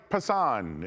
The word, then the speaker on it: Pasquantino: Like what what Everyone last year but but how come like Pasquantino and Which is how we should pronounce his name, by the way.